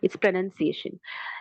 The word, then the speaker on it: pronunciation: your name clearly but when it becomes a noun pronunciation that time we we don't uh clearly you know clearly state or Clearly say the U uh sound okay so the U